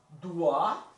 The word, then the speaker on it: dois: Então, je dois, né? Não falo S.